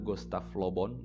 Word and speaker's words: Gustave Le Bon: yang bernama Gustav lobont tulisannya gustave Le bon lebih bacanya Gustav lobont hidup dia menuliskan dalam